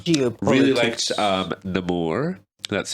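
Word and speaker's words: Namor: anything but um do you really liked um the more that's how you say his name right yep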